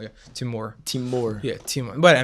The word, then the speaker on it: Timur: The stress goes on the last syllable. Yeah, Timur.